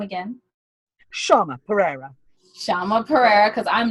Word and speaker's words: Shayma Perea: Shayma Perea. Shayma Perea, because I'm not messing that up. No, it's spelled very strangely.